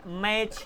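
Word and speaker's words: match: मैच में मैच टच नहीं बोलते, मैच बोलते हो, टी साइलेंट है।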